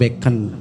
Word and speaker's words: Bacon: terus begitu juga tetap beken be'en bacanya Francis Bacon Bacon tulisannya hehehe biasa bahasa Inggris